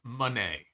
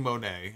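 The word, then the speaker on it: Moné: Deputy Dog, supposedly it's pronounced Monet. I was saying Monet. I probably will still say Monet, but it's it's a stupid fucking name.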